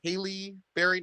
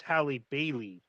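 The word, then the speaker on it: Halle Bailey: that i think it i think you pronounced it haley barry not halle berry but haley berry oh yeah haley bailey oh it's hallie bailey highly bailey god i'm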